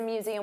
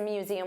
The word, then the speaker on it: museum: So, let's talk about the pronunciation for museum. Z. So, notice you have that voiced Z sound. Museum. And there are three sounds.